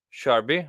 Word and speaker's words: Sharbi: welcome to the pcast a new episode with sharby and old up I'm gonna pronounce it wrong every time you did you